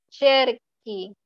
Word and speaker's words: cerchi: Io cerco, yo busco, tú cerchi, tú cerchi. Aquí ya le estoy agregando la H. Y recuerden que al agregarle la H cambia el sonido, ¿verdad? Se pronuncia como ki, ki.